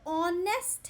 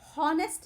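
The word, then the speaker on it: honest: सो ऑनेस्ट है बच्चों, हॉनेस्ट नहीं है. ठीक है. वॉवल प्रोनाउंसिएशन है ना. हॉनेस्ट नहीं बोल रहे हैं, ऑनेस्ट बोल रहे हैं.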